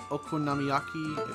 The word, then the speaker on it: okonomiyaki: recipe use spinach miso here soon vegetable stir-fry okonomiyaki that's how you pronounce it candied sweet potato I want to